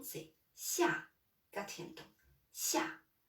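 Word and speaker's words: 下: Donc, la prononciation, c'est xia. Quatrième ton. Xia. Le ton, c'est comme quand on dit non.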